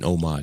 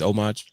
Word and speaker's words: homage: Uh we got Yeah, homage. Okay. So, that's that's what it's homage. It's homage. Yeah. Okay. All right. So, the H is silent.